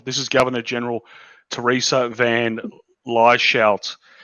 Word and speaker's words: Van Lieshout: This is Governor General Theresa Van Lieshout. Van Lieshout, that's how you say my name.